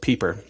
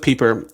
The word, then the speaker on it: Pieper: Catholic Theologian named Joseph peeper I think that's how you say his name it looks like Piper but I think it's Joseph Pieper and in his work